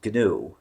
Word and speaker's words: GNU: that ganu is pronounced ganu ganu okay my apologies yes we we don't read it as an initialism because it's more fun to call it gnu uh it is but